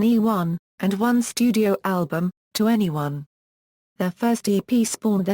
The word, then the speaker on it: 2NE1: YG Entertainment in 2009 the name pronounced to any1 or 21 combines the phrases 21st